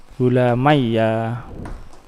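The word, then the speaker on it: غلاميّ: diidgamkan ya kepada ya nulisnya satu bacanya tasdid tasdid ya gulamayya gulamayya hah Nasab yo gulamayya, jer yo gulamayya.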